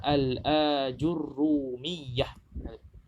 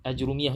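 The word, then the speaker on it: Al-Ajurrumiyyah: dekato perkataan sebetulnya adalah al-ajurumiyah bukan ajurumiyah itu bukan materiel ajrumiyyah not make NU al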